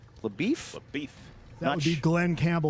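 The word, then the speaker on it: LaBoeuf: I think it's pronounced LaBeef. LaBeouf? LaBeef.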